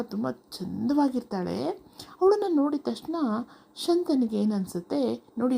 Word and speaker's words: ಶಂತ: ಚಂದವಾಗಿರ್ತಾಳೆ ಅವಳನ್ನ ನೋಡಿದ ತಕ್ಷಣ ಶಂತನಿಗೆ ಏನ್ ಅನ್ಸುತ್ತೆ ನೋಡಿ ಇಲ್ಲಿ ಶಕಾರ ಬರಬೇಕು ಮಕ್ಕಳೇ ಗೊತ್ತಾಯ್ತಾ ಉಚ್ಚಾರಣೆ ಕಡೆ ಕೂಡ ನೀವು ಗಮನ ಕೊಡಬೇಕು ಸಂತ ಅಂತ ಹೇಳಬಾರದು ಶಂತ ಅಂತ ಹೇಳಬೇಕು ಓಕೆನಾ ಶಂತನು ಅವಳನ್ನ ನೋಡ್ಬಿಟ್ಟು